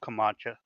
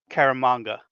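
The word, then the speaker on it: Caramagna: And it's lettered by Joe Kamacha. I keep saying his name wrong. Karamonga.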